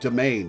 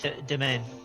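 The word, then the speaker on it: demesne: rice patties are full d m s NE e is pronounced domain right yeah domain once again allow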